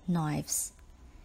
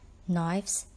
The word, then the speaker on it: knives: number seven is knives knives is the plural form of knife for example allowing people to carry knives around would be a risk to people's lives do you see how knives rhymes with lives remember to change the